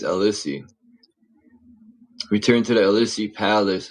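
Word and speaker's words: Élysée: It's spelled E L Y S E E L Elisi. Elissi. I think it's Elissi.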